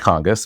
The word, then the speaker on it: Cangas: It is pronounced Congus, but it is C A N G- A.